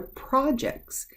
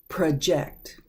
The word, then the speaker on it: project: It's pronounced differently. Project. The other one was project. This one's project. Project. Very close in pronunciation, but a little bit different.